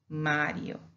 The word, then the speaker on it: Mario: So we respect that single R and we pronounce it as ere, Mario, Mario.